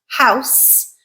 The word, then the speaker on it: house: House. I can pronounce this word as house with a s, which is an unvoiced sound, and that is a noun.